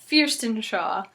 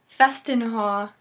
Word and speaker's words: Featherstonhaugh: This surname apparently has 5 different pronunciations, and they are Featherstonhaugh, Fearstonshaw, Festinhaugh, Fiesenhay, and Fanshawe.